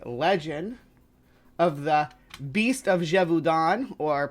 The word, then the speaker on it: Gévaudan: to explore the legend of the Beast of jeevon or pronounced in the French it's leet D jeevon yeah I practice my French for this one